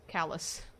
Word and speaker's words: Calais: Calais, Vermont is pronounced callous.